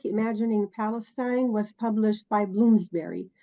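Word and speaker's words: Bloomsbury: Palestine was published by bloomsberry you said Bloomsburg it's bloomsberry uh sorry yeah it's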